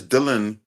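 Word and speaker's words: Delan: No, it's Dylan, but I'm okay with you mispronouncing it. It's a weird name to say, but it's Dylan. Dylan, okay, mate. Usually I'm used to D-I-L-L, but D-E-L-A-N is Dylan.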